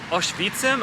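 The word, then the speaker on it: Oświęcim: here i am in the town of auschwitzem i think that's how you say it in polish i'm going to give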